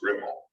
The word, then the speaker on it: REPL: It was made by Czechoslovakians who apparently pronounced that REPL as Ripple.